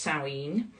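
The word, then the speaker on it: Samhain: spelled s m ha a i n but pronounced sinen um and this is celebrating the new year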